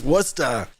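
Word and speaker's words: Worcester: I had to drive through Wchester and go, "Oh, you mean Wora?" And I go, "The did you just say? It's Wora."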